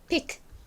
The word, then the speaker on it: pick: 그래서 정확히는 pick, pick 이렇게 끝에 살짝 크 소리가 들어가는데요. 빨리 발음을 하게 되면 이 끝에 크 소리는 보통 이렇게 묻힙니다.